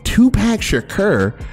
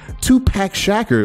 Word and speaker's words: Tupac Shakur: dollar with death row they would always say his name tupac shakur to packshacker like come on come on you're